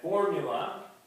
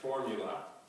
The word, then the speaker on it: formula: of quarter 1004 and formula stress on the first syllable three syllables formula and it's a noun